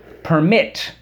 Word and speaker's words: permit: let's review these words permit accent on the first syllable permit perm ted permission permission